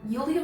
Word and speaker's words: Yulia: 10 years ago julian yulia volkova and her okay it's julia i've been saying julia because it's been spelled with a j don't come for me